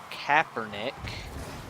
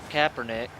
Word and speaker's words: Kaepernick: So Colin Kaepernick, I believe is the official way to pronounce his name.